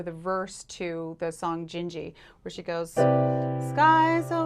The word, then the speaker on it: Dindi: jinji which is spelt d-i-n-d-i um it's pronounced in portuguese as jinji instead of dindi um this is from the intro or the verse to the song jinji where she goes skye's